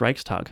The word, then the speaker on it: Reichstag: saying it right. Yes, it is Reichstag. Reichstag. Reichstag. You do the Reichstag. It's one word. It's Reichstag, isn't it? Reichstag. Yeah, but they separate it as if it's two.